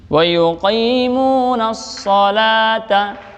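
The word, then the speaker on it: وَيُقِيمُونَ الصَّلَاةَ: Nah, di sini setelah wa yuqimuna memasuk alif lam syamsiyah ya. Ada shadnya juga tasydid, namanya alif lam syamsiyah, jadi enggak dibaca alif lamnya. Wa yuqimunas salata.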